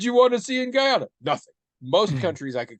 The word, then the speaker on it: Guyana: the country of guyon I want to pronounce that very carefully not Ghana I actually have some interest in visiting Ghana Guyana specifically no interest and